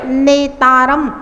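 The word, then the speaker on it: नेतारम्: नेतारम नेतारम भारम नेतारम देखिए नेतारम में एकता है और भतारम में दोता है। तो उच्चारण करते समय हमेशा ध्यान रखेंगे नेतारम में नेतारम भता भतारम में भ तारम दोता का उच्चारण करना है तो आपका उच्चारण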